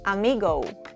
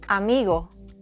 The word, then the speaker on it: amigo: English speakers love to turn the Spanish O into O, but we don't say amigo, we say amigo. We don't say muchacho, we say muchacho. In Spanish, O is short, round, and dry. Think of it as a single clean note and not two sounds like in English.